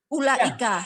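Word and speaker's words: أولئك: Ulaika. Ya, pendek. Ulaika. Ulaika. Tidak panjang, kan pakai wau. Pendek. Itu wawunya Bu nggak dibaca. Ada tulisannya. Nggak dibaca. Ya.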